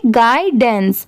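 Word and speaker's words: guidance: अब जैसे देखिए GUI, यहाँ पर इसकी साउंड क्या है, गाय की साउंड आ रही है, गाइडेंस, गाय की साउंड आ रही है, इसे ग्यू नहीं पढ़ेंगे क्योंकि GUI आप इसे ग्यू भी पढ़ सकते हैं बट नहीं, यहाँ पर इसकी साउंड आ रही है गाय की।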